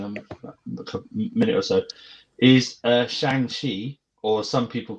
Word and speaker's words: Shang-Chi: Apparently, Kevin Feige said Shang-Chi.